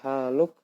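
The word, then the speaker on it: حالك: Kaifa haluk? Padahal tulisannya haluka, tapi kita matikan haluk, ka-nya jadi mati, haluk.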